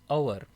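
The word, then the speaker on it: hour: लेकिन एच जो है वो क्या होगा? यहां पर एच जो होता है वो साइलेंट होता है। तो यहां पर क्या निकलेगी? प्रोनंसिएशन अवर। तो ओ से जो है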